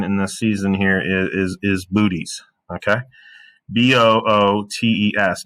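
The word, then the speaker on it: Boötes: Now, legit astronomers, professionals, mature human beings might pronounce this the proper way, which would be Botes. But folks, let's be real for a second. That's not Botes. That's Bootes, and we all know that Bootes.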